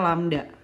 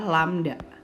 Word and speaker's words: lambda: Berarti langsung ketemu wavelength-nya adalah, wavelength ditulisnya begini ya anak-anak, dibacanya lambda.